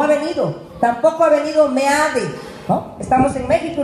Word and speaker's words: Meade: No ha venido, tampoco ha venido Meade, ¿no? Estamos en México y lo pronuncio como lo leo, Meade.